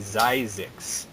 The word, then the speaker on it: Zyzzyx: It's supposed to be Zyzzyx. Oh, Zyzzyx. Okay, so number 1 is Zyzzyx Road, which I guess nobody wanted to come up to the counter and say 2 tickets for Zyzzyx Road because they don't know how to say it.